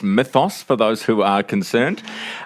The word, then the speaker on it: Mythos: We've already got through the pronunciation difficulties. It's Mythos for those who are concerned.